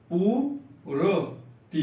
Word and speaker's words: पूर्ति: पूर्ति। पूर्ति देखिए, यहां आधा रा का उच्चारण होगा पा के बाद।